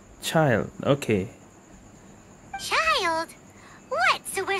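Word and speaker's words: Childe: call me child child oh that's how you pronounce it child okay child what so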